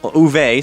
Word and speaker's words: Uwe: Speaking to Variety on Monday, the movie's German director uh Uwe Boll Uwe, sorry. Uh thank you for the people in the comments who uh told me how to pronounce it right.